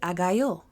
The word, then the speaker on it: Agayú: Some people pronounce it Agayú, but me, Yaya, being a Black Geechee American, I'm going to say Aganju, okay?